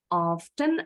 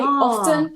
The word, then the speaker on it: often: So Emma pronounced often with a true T sound. Sama kayak Miss, pengucapan T-nya jelas. One is not more correct or incorrect than the other. They're both fine. They're both in the dictionary. You choose whichever one you prefer, often or often.